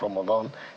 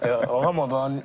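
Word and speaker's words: رمضان: still learn, you practice during the month of Ramadan, then you come out better than what you were.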